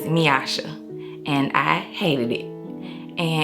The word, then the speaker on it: Meyasha: and it comes from the correct pronunciation of my name which is miasha and I hated it